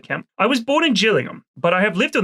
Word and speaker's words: Gillingham: On why what just it's not Gillingham oh is this a gif GIF reference I'm just asking okay cuz there is a Gillingham indors it that's pronounced Gillingham right so just saying just